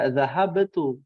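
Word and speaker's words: ذهبت: Cara bacanya jangan dikol-kolahkan. Karena kita bukan membaca ayat Al-Quran. Ya, naam, dhahabtu. Nggak ada, dhahabtu. Dhahabtu. Adzahabta. Ya, nggak ada orang Arab menggunakan kol-kolah ketika bercakap-cakap menggunakan bahasa Arab.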